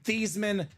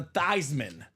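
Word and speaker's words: Theismann: need a catch phrase we're gonna change your last name from thian to thyman thyman for the Heisman genius he was a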